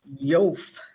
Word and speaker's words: Yoef: The corporate name appears to be pronounced Yof. I'm going to spell that. YOEF like Frank Inc., trading as Stanton Liquors.